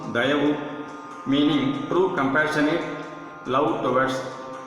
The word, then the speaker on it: Dayavu: Let this soul life of divine Dayavu, pronounced Dayavu, meaning true compassionate love towards our fellow beings, fill in all our mind, thought and word, as well as the acts therefrom.